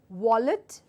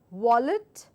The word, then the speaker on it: wallet: for this are so the first sound is your valy where I bite my lower lip and I give out the sound valy the second word is your wallet as if I'm about to whistle wallet wallet Valley wallet Valley so this is Valley and this is wallet so you have to